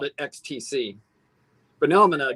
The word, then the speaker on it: XTC: name it the band is it x t c or ecstasy i always call them x t c but i did once